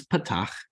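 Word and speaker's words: פתח: Okay, this is patach. And it is that ah sound.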